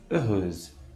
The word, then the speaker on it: heureuse: Quando o S está entre duas vogais, pronuncia-se como um Z. Observe a palavra heureuse, que significa feliz.